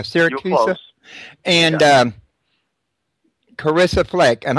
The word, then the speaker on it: Siracusa: horsefly Chronicles with is that pronounced syracusa uh syracusa yeah syracusa and um Carissa Fleck